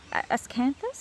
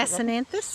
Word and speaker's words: Acanthus: Standing in front of us right now, Ascanthus? How do you pronounce it? Acanthus. Acanthus, thank you.